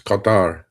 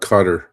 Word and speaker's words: Qatar: It's Qatar, not Qatar. I mean, you know, look, I do understand Americans pronouncing Iran because it's that I, right?